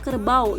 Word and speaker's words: kerbau: Kan kita tidak membacanya kerbau, tapi kita membacanya menjadi kerbau. Jadi bunyi A, U itu menjadi W, dan juga sama sepertinya harimau, enggak harim au ya.